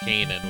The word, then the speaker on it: Canaan: Guess the biblical one is pronounced Kanan, which I never really understood why it's pronounced canon.